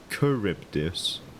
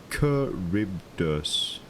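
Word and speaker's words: Charybdis: And it's pronounced caribus. Okay. Thank you, T. Thank you. Caribus, I think. Kuribdus. Curibus.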